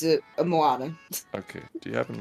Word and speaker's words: Moana: N A oh yeah I kept saying it wrong cuz I was like Mona everybody like what no